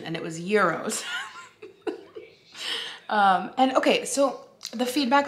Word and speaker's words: gyros: We looked up the pronunciation and it was gyros.